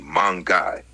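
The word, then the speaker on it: மாங்காய்: In Tamil, the fruit is called mangai, pronounced roughly mangai, which literally refers to the mango fruit.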